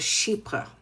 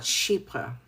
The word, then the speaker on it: chypre: How many people know about chypre? And I'll spell it c h y p r e. So, chypre was and is a beautiful ingredient that has a It's It's The name actually comes from Cyprus.